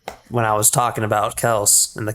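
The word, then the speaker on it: Kelce: you're doing this on purpose but you're properly pronouncing Travis Kelsey's last name I it is Kel I looked it up when I was it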